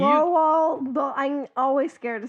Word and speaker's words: Roald Dahl: Roland Dolls. Not Roland. What? See, you. Roald Dahl.